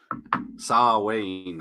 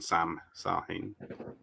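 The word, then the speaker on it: Samhain: You're trying to explain him a little bit there by saying he's Sar Wayne, I think, isn't it? Rather than Sam Hain. Gotta pronounce it Irishy.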